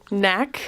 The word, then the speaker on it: NAC: day is called m.a.c can you say it properly nak yes so it stands